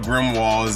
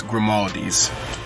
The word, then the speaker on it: Grimaldi's: knew i missed your it's not grim walls it's grimaldi's it's from waldies grimaldi's